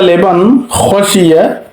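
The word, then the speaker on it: لِمَنْ خَشِيَ: নুন সাকিনের পরে খ আসলে কিভাবে উচ্চারণ করব। যালিকা লিমান খশিয়া রব্বাহু।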